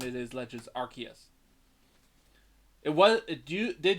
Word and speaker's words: Arceus: Legends Arceus and yes that is the actual pronunciation it is Legends Arceus it was it do did used to be Arceus as that's how you it would sound it